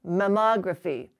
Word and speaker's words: mammography: And note the pronunciation shift with that Y. Mammogram, mammography.